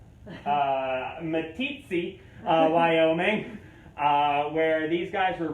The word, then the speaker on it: Meeteetse: So it wasn't until about 1981 in, let me make sure I pronounce it correctly, Meeteetse, Wyoming, where these guys were rediscovered by a little dog named Shep.